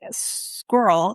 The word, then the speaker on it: squirrel: Some suggest that squirreled could be included, but squirrel is intended to be pronounced as two syllables.